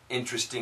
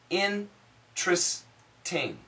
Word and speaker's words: interesting: has performed performed another interesting experiment also this word interesting correct in your dictionary interesting but the daily English pronunciation for most American in tris ting interesting so I'll write it